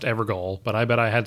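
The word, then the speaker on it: Evergaol: We activate the Evergawal. I'm just kidding, I know it's pronounced Evergol, but I bet I had someone do a double take. Okay, for real though, it's pronounced Everjail, I just wanted to see you squirm.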